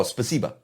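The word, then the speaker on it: спасибо: you in russia placebo placebo placebo but no spasiba so you get the placenta shot okay and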